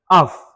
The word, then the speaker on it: half: Ça devient half. Le L n'est pas prononcé.